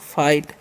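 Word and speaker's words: fight: एफ आई जी एस टी है तो इसे हम पढ़ते हैं हम लोग फाइट। क्योंकि यहां पर जीएस साइलेंट होता है।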